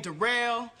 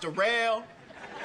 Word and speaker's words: Daryl: yeah uh my name derell it's spelled like Daryl but it's pronounced derell uh yeah I just